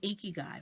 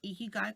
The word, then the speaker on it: Ikigai: So what is an Ikigai? First, let me go ahead and spell it for you. It's spelled Ikigai, and it's pronounced eek, like you've seen a mouse versus ick, okay?